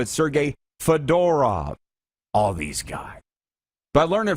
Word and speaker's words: Fedorov: to say their names they said you need to put the emphasis on the middle syllable what's not sergey fedorov sergey fedora all these guys by